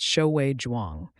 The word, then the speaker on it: Shiae Jwang: In 2006, that someone was Shiae Jwang, pronounced Shoui Jwang.